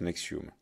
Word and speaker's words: NXIVM: Donc ça s'écrit N-X-I-V-M, tout en majuscule, et ça se prononce Nexium.